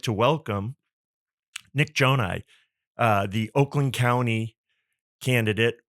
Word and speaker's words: Gjonaj: my name is Nick Joni and I know the spelling is more intimidating than the actual pronunciation but uh I'm a